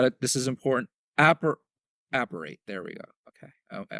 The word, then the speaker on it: Apparate: Appar Apparate.